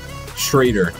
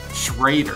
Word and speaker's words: Schreuder: Schreuder. Schreuder.